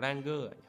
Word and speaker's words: Granger: Con này đọc Ranger hoặc như nào mình đọc là Granger.